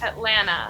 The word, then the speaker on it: Atlanta: So when it comes after an N, we almost just drop the T completely. Wait, there's a slight sound, right? Because if you ask me to say Atlanta without the T, I say Alana.